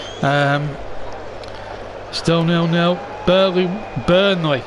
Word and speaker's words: Burnley: Burnley. Not Burley. It's B U R N E L E Y. Not Bley. Get the pronunciation right.